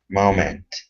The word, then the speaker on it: moment: word here is moment the stress is at the beginning instead of moment it's moment moment good just uh a